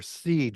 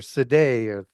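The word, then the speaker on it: Sidhe: These are the shea people. Si d h e or seed or seday. It's pronounced 100 different ways.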